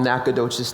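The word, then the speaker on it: Nacogdoches: n this is SFA or as I so cunningly say naok does Texas because that's how it's spelled with a G and then a d and CH H right yeah whatever cool the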